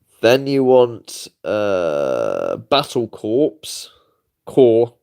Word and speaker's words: Battle Corps: Core, but it's got a P on the end. Battle Corps. That's how you spell it. That's not how you pronounce it, though.